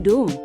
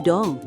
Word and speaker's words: dong: Jangan dung, tapi dong.